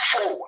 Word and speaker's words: full: People can say fourth colonel, but no, it's not fourth. It's full. F-U-L-L.